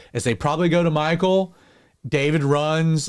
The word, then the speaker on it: Michal: And yes, I said it right. It's Michal.